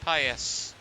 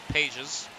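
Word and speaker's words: Pages: Nico her and Andy Pas was going to come on but I believe they've brought a pinch hitter Kim. I apologize if I uh earlier mispronounced Pas's name is Pais.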